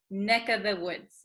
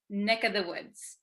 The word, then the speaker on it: neck of the woods: So also when we say neck of the woods, usually this of, the V sound kind of disappears because V's are hard to pronounce. So we tend to say neck of the woods, neck, this of becomes just the vowel sound, neck of the woods, neck of the woods.